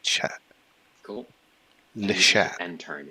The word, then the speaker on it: chat: Don't pronounce the T, like chat.